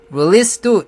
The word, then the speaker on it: release: 발음은 release, 끝에 SE가 z로 나는 게 아니라 s로 나야 됩니다. SE로 끝나는 단어가 발음이 z로 끝나는 게 굉장히 많죠. 그래서 release도 읽을 때 release 안 하고 release 하면서 실수를 하게 되는 거죠.